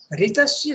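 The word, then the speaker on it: ऋतस्य: Ritasya Svedame. This is Sanskrit. The R below the dot below the R, okay, is actually the vowel Ri in Sanskrit. Some pronounce it Ri, some pronounce it Ru.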